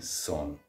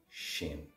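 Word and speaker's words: sin: and againa on now my dialect is Monster Irish West kry specifically so for that this word s i n I'm saying son in other dialects that would be pronounced shin so and Cafe Shin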